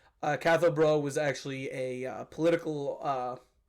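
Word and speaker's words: Cathal Brugha: anti-treaty leader catho buag so his name was bruh it wasn't buag buuga is obviously Simon's English pronunciation of it uh cath bro was actually a political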